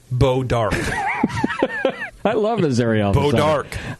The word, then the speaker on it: Bois d'Arc: Bois d'Arc, BOISD''ARC, Bois d'Arc. Yeah, it's pronounced Beau d'Arc.